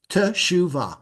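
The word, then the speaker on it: תשועה: okay you see where this tof has a doggish and a silent vowel yes you know to say t Okay T shua one two three three syllables there are words where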